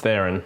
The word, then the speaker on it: Theron: Or Charlize Theron. I don't know how you pronounce it. It's Theron.